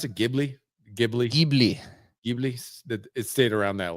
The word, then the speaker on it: Ghibli: How do you pronounce it? Ghibli.